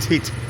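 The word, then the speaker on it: thịt: I think it's pronounced tit. It's a silent H.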